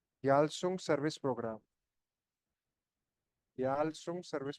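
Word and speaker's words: Gyalsung: य एनजी याल सु याल सुंग सर्विस प्रोग्राम याल सुंग सर्विस प्रोग्राम या गल सुंग अगर वाय साइलेंट रहता है अ मैंडेटरी सर्विस टू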